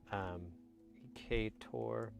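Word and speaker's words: Ec8or: Ecator. So it's spelled EC8 or.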